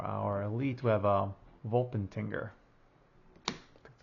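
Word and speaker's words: Wolpertinger: And for our elite, we have a Volpentinger.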